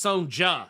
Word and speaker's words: Sonja: Um, you said her name wrong. Oh. Oh, was it That's right. It's sonja.